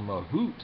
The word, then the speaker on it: mahout: A mahout is someone who handles an elephant, as it turns out.